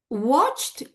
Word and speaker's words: watched: I don't think people pronounce watched kettle. So probably what they say is watch kettle, because it is very difficult to pronounce the ta sound in between the other two consonant sounds.